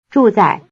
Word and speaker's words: 住在: Notice that the second syllable is in the neutral tone.